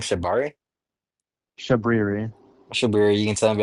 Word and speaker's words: Shabriri: Shabriri.